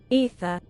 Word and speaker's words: Aether: Is it pronounced with the A? Aether. Aether. Is it? Ether. Not in Britain, it's not. Ether. Or in American, apparently. It's Ether. Allegedly.